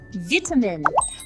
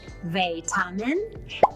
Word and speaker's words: vitamin: Vitamin. British, vitamin. American, vitamin. How do you say it?